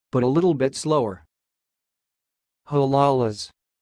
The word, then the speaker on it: halalas: will repeat again put a little bit slower huh Lala's huh Lala's that's all thanks for listening if you like